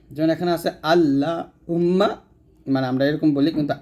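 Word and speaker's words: اللهم: ডানে যখন জবর থাকবে যখন পেশ থাকবে তখন এই লামটা মোটা করতে হবে যেমন এখানে আছে আল্লাহুম্মা মানে আমরা এরকম বলি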